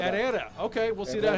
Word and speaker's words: Herrera: You don't pronounce the H. It's just Herrera. Herrera.